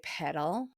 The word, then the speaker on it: Petal: I um Yeah, I really really love the name Petal. I have just loved it forever. Petal, but in American in American um they would say pedal and it it sounds like a pedal like a bike pedal.